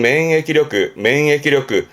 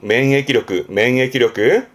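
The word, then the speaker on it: 免疫力: 발음은 맹해기력그. 그렇죠. 병을 면하게 해주는 그런 힘을 면역력, 맹해기력그.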